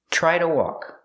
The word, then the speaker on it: try: Try to walk. The TR makes a ch sound like chicken, plus the R, try.